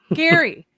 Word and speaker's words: Jerry: No, it's spelled Jerry, but it's pronounced Gary. He'll Yeah, be believe me, very it- mad if you call him Jerry.